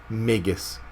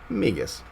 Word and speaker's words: Magus: as i possibly could magus is the way to say it so i'm training myself that's why i'm saying it so much i'm actually training myself how to say it properly because i was all over the place with it migus megan's